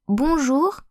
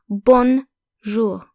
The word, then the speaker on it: bonjour: If you want to sound more French when saying bonjour, remember that O and N create a new vowel sound. So basically the N in bonjour is not pronounced like a consonant. Bonjour, not bonjour.